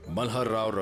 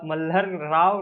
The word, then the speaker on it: मल्हार राव: 1766 में मल्हारराव रघोबा महदजी शिंदे के साथ जंग पे रघोबा नहीं, राघोबा। मल्हार राव नहीं, मल्हार राव।